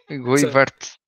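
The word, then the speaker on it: Goeyvaerts: Without the S, you know that, right? At the end, No, the S. I thought you always pronounced the RT as an S in Flemish. No, it's just RT.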